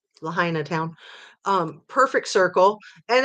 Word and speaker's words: Lahaina: over there and yeah the perfect circle around lahaini town I didn't say it right Lahaina Town um Perfect Circle and again sure those